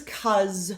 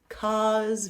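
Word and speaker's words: 'cause: This is cause. Short for because. Cuz very open cause.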